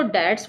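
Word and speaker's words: debts: इसको डेट्स बोलते हैं। बी यहां पे साइलेंट रहता है।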